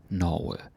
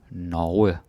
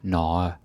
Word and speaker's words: Norge: Maybe I could say that, be careful with a word like this. Norge. Right? Don't say Norge or Norge. Right? Like you have to pronounce the G.